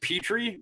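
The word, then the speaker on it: Pitre: round i love i i pronounce it petrie jalen petrie as in petri dish but i actually don't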